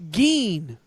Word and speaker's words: Gaines: It's Geen. Gaines.